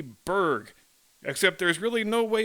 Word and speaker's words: burg: would use b-u-r-g in the correct pronunciation would be Berg except there's really no